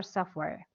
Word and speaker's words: software: computer examples of computer software and by the way if you want to pronounce the word sof Ware you don't pronounce the T the t is sound